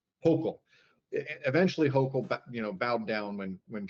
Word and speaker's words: Hochul: Or how do you pronounce her name? Hochul. Hochul.